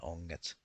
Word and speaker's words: onget: When G is paired up with an N, it becomes a soft G. For example, in the words kengät and onget, it's a soft G.